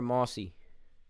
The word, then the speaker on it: Mossy: How do you say it, Mosey or Mossy? It's Mossy. Mossy.